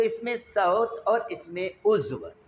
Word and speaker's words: صوت: इसमें सौत, सूत नहीं पढ़ना, वो धागे का नाम है और सीन से होता है। तलफ़्फ़ुज़ दुरुस्त कर लें, यह है सौत। स्वाद के ऊपर ज़बर है, वह पर जज़्म है, इसमें सौत।